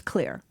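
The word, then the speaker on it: Xlear: It looks like exar, but it it's pronounced clear.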